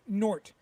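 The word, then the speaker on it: Gnort: to let you know the g is silent in ganort so his name is just proud pronounced nort to you maybe to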